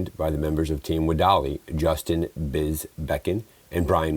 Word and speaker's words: WEDALI: Yeah, it's pronounced WEDALI. WEDALI.